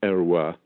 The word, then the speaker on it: Heroys: French am i saving in using the French pronunciation yes his descendants used the name Arawa the French name which was his great-grandfather was